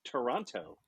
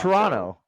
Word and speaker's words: Toronto: it's like pronouncing Toronto, because some people who live near it's Toronto. will insist Toronto. there is no second T in Toronto.